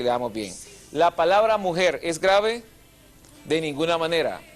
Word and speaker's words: mujer: damos bien la palabra mujer es grave de ninguna manera y nunca lo va a hacer a la palabra mujer es aguda porque lleva el acento en la última fila si la palabra mujer